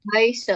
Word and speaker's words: heiße: Bisa ich heiße, ini yang seperti huruf B ini dibacanya S biasa ya.